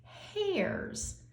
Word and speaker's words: hares: The next one, animal that we're going to talk about is pronounced hares. Not like the hair on our head, but the animal hares.